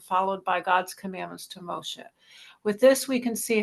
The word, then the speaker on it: Moshe: you keep going now is it pronounced MOSI Moshe Moshe sorry I'm a convert